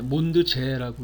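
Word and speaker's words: Mondsee: 몬드지어는 오스트리아 독일어를 쓰잖아요. 몬드는 이제 달이고 지어 또는 제, 몬드제라고 읽기도 하던데요.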